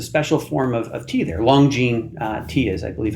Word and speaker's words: Longjing: Longjing tea is, I believe, how it's pronounced.